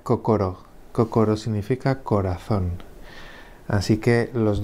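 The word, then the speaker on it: 心: Y el segundo kanji, si estuviera solo, se leería kokoro.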